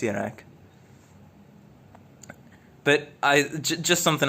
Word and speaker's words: Kjerag: Yes, it is pronounced yak.